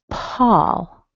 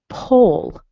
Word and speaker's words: Paul: I mentioned in one of the emails the word Paul. I wanted to bring this up because I often hear my students say pole.